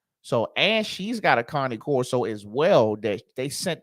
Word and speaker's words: Cane Corso: So, and she's got a Connie Corso as well that they sent off to training.